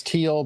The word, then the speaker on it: Thiel: Thiel or Teal? I think he says it as Teal, but it's spelled Thiel.